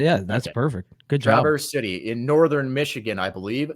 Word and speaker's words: Traverse City: Is it Traverse or that's how you pronounce perfect. it? Yeah, that's perfect. Good job. Traverse City in northern Michigan, I believe.